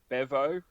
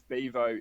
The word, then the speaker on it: Bevo: We would pronounce it Bevo, but it's Bevo if you're a Texan.